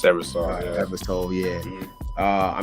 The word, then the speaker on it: Eversole: I think it's pronounced Eversole, right? It's Eversole.